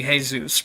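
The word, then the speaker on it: Jesús: So if it's a Spanish pronunciation, then it would be Jesus, right? Where it's pronounced with like an H instead of a J.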